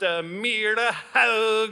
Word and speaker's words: Myrehaug: It's Myrehaug. It's Norwegian. It's actually pronounced Myrehaug is my name.